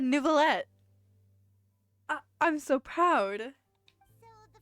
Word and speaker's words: Neuvillette: He didn't say Nervalette. He said Neuvillette.